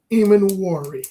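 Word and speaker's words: Emmanwori: How you pronounce the last name? Nick Eamon-Wari. Eamon-Wari.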